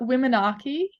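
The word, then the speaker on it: Womanarchy: saying it correctly um I call it wom Archy oh only because um the title of the film comes from the word maniki you know like the first period bleed and um I thought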